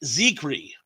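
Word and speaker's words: Zicree: mispronounce his name uh it's it's like Hickory so I have to say he's icari Mark ziegry of Star Command um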